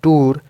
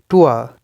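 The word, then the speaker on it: tour: okay then उआ उआ such as इन the word टुआ इट्स नॉट टूर टुआ टुआ टुआ सो य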